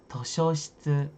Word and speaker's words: 図書室: Dan cara bacanya adalah Toshōshitsu desu ne. Toshōshitsu.